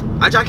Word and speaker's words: Ajaki: Ajaki is a name. Ajaki is like basically Jackie, right? Yeah. But in a locally pronounced.